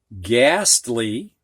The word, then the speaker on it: ghastly: So in these words, the G does get sounded, but not the H. So we have ghost. We don't hear the H. Ghastly, ghetto, and Ghana.